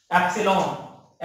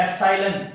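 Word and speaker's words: epsilon: सा हुआ तो समझा, फिर एप्सिलॉन भी बोला जाता है एप्साइलन भी बोला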